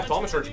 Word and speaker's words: thaumaturgy: I can't pronounce it though. Is it thaumaturgy? Yeah, thaumaturgy.